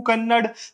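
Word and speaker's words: ಕನ್ನಡ: ने मुझे बताया कि कन्नड़ नहीं होता, कन्नड़ा होता, ऐसा कुछ तो भी उसने प्रोनाउंसिएशन दिया था।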